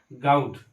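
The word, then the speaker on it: bottle gourd: বোটল goat, এটা আবার উচ্চারণ করা হয় গাউট, এটার উচ্চারণ হবে এরকম।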